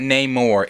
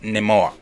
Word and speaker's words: Namor: off the bat name it's not name or it's Nemo that's you gotta say it like they said that's how they said that's how they said to say it talking comic name